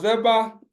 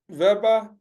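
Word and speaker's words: Weber: social interactions so uh verba you know you know I say ver I don't say we uh because we don't we pronounce the W as V is a German uh yeah so he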